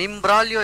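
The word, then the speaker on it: imbroglio: means to drink in in brolio i m b r o g l i o the g is silent here and imbralio is a complicated situation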